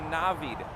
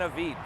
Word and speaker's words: Navid: way just real quick my name is pronounced a navid not an evite so if i'm going